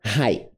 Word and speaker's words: high: Presta atenção nessas duas palavras aqui, ó, low e high. Não é high, não tem som de G. Apesar de por muitos anos eu pronunciar com som de G, não tem. É só high.